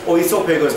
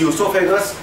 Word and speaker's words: esophagus: Spelling starts with O. Don't pronounce as oesophagus. This is esophagus.